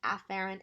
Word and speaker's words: afferent: Now technically they're pronounced afferent and efferent, but they sound so similar, I'm going to highlight the first letter.